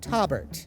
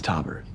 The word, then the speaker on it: Tobert: This episode, we get to spend a little more quality time with Tobert, spelled with a T. You're the guy with the name. It's Tobert. Robert with a T.